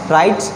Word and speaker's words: right: Next राइट, RIGHT। So this is also राइट, एंड G and H are silent here.